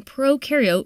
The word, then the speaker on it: prokaryote: like to remember that Pro in prokaryote rhymes with no and you and you